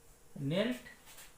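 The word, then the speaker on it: kneel: नील, नेल्ट, नेल्ट। इस शब्द को ध्यान से देखना है। इसमें के साइलेंट रहता है, के का उच्चारण नहीं होता है। इसको हम लोग पढ़ते हैं नील, नील, नेल्ट, नेल्ट।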